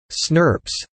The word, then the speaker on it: snRNPs: identify the novel entities snRNPs, pronounced snurps, and detect their role in splicing.